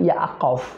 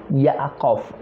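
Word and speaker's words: יעקב: nama yaakub ya Yakub nama Yakub dalam teks asli ibraninya atau alkitabnya yaitu yaqof aqof yaqof a q o v nah yang memiliki sebenarnya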